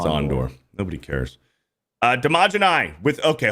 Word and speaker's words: Andor: Ondor is the proper way to pronounce it. Yeah, it's Ondor.